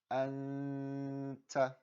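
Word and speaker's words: أنتَ: This would be pronounced anta. Notice how I held it.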